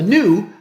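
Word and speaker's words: gnu: is also called a new pronounced with a silent G the linux kernel's mascot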